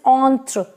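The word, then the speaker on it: entre: right and silent is e is silent at the end so it is on through on through on through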